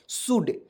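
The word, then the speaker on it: should: लिखेंगे और यानी कि ओ को और एल को इसमें साइलेंट कर देते हैं तो क्या पढ़ेंगे दोस्तों एस एच ओ यू एल डी शुड और शुड मींस क्या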